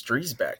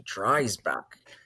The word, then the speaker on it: Dreisbach: I was like no it's Dreback. He's like no it's actually Dbach.